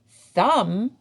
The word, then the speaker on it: thumb: Thumb has a silent B.